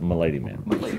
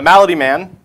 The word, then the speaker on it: Malady Man: keeping you on track it's not pronounced milady man okay yeah the malady man I'm really excited for